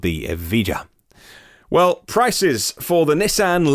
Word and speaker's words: Evija: The Lotus Evija, E-V-I-G-A, maybe Evija, if you were Spanish and pronounced the J that way.